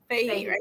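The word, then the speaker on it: Fahey: Is that not pronounced fee? I say fehe.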